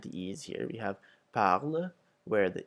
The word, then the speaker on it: parle: as in mer, bête, whereas the parler makes an A, and then the E at the end of parle is silent.